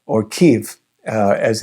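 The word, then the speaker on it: Kyiv: He moved there from Kiev or Kev uh as it's more properly pronounced.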